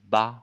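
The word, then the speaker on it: 八: Il se prononce bas.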